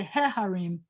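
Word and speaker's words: הָרִים: i have to say if i have harim which are mountains then i say harim because it's aha with kamats under it it's not the accented syllable so i have to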